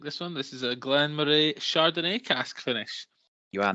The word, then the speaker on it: Glenmorangie: I think it's Glenmorangie actually, but I always pronounced it wrong.